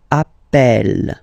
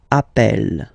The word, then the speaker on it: appelle: So when you get this E vowel, and then you get a double consonant, and well, they are the same, then it does change the pronunciation of E. You tend to pronounce it like E, E, really open. That's the reason why you pronounce it appel, appel, okay?